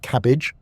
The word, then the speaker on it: CABG: In more complex cases or when multiple arteries are involved, doctors may recommend coronary artery bypass grafting or cabg, pronounced cabbage.